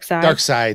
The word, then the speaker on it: Darkseid: um this is a dark sade is that how you say it dark side yeah it's weird they spelled it weird that's just dc yeah